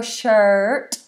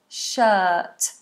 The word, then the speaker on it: shirt: don't pronounce the R so we don't go shirt this is a long vowel uh see how flat my tongue is uh shirt I need a shirt